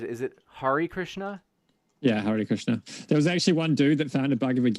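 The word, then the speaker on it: Hare Krishna: Christian but they found out how do I pronounce it is it Hari Krishna yeah Hari Krishna there was actually one dude that found a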